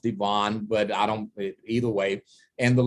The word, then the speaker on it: D Ivan: The middle name is spelled like Ivan. It's pronounced Devon, but either way.